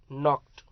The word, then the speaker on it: knocked: Next, नॉक्ड. यहाँ के silent है, जो यहाँ के है ना, वो के साइलेंट है, तो नॉक्ड.